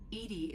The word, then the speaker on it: EDI: is a jar why are you named Edie Edie is the phonetic pronunciation of e that is an acronym for